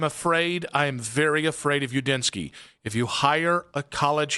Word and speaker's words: Udinski: That's how you pronounce it. Yeah, obviously. Oh yeah, also it's Udinski.